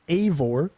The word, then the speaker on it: Eivor: So the main character is pronounced Eivor.